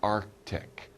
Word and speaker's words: Arctic: it it's called the arctic arctic we don't say really we don't really pronounce that c we don't say arctic